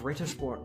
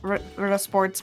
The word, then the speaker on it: Ritter Sport: No, if it was Ritter, or Rita, it would be Rieter. But because it's it's two T sounds, it's literally like you have to pronounce it as if there's two T's.